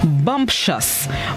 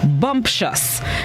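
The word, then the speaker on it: bumptious: right this morning's word of the day is bumpshus bumpshus it's spelled i b-u-m-p-t-i-o u s bumps us it's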